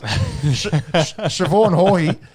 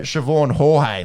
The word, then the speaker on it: Siobhan Haughey: But Thorpe and Leslie Jones were calling her Siobhan Jorge, like a.